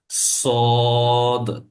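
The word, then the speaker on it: ص: আগাটা লেগে যাবে এবং এই সোয়াদের উচ্চারণটা হবে একটু শক্ত এবং উঁচু থাকবে এবং শব্দটাও হবে হচ্ছে,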